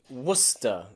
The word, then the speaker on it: Worcester: there are cities and places in english that often have a silent sea especially in my country the uk england where i live there are places like leicester and gloucester and worcester okay and nearly all of